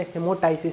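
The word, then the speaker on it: hemoptysis: condition को हमलोग बोलते ही मोटास जिसमें पी साइलेंट होता है क्या होता है ही मोटास हीमो टा इसिस ये आपका रेस्पिरेटरी का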